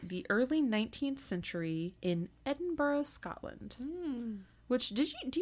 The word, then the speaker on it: Edinburgh: early 19th century in Edinburgh Scotland which did you do you know how spell Edinburgh do you know what the word looks like it looks like Edinburg yeah I didn't know